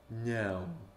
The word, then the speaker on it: não: It's not meowing, it's like, no. Não.